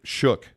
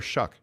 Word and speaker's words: Shuck: sleep well my guy it's not what's not shook no it's Tyler shuck okay we mispronounced his